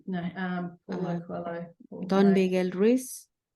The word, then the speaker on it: Paulo Coelho: Paul Coelho? No, Paulo Coelho.